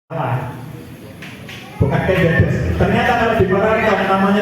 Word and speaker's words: Ken Dedes: Ternyata kalau di Paraton itu pakai popet, bukan pakai taling. Jadi cara bacanya yang benar itu Ken Dedes.